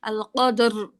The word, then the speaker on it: القدر: আপু রটা উচ্চারণ করতে কি একটু গড়গড় শব্দ হবে? হ্যাঁ হ্যাঁ, একটু এরকম শব্দ হবে। হ্যাঁ, আল ভাইব্রেট হবে কদর।